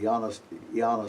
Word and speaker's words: Ioannis: There was a gentleman named Ioannis, well, pronounce it correctly, Ioannis Stobaeus, who wanted to leave his son with